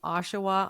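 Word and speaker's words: Oshawa: and PhD student at Ontario Tech University in Ashawa on Ontario did I pronounce that correctly you absolutely did okay she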